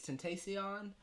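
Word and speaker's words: XXXTentacion: it's like XXX Tentacion. I believe is how you pronounce it. But it's Temptation. Tentacion. It's Tentacion. Oh. I know it's Sion at the end.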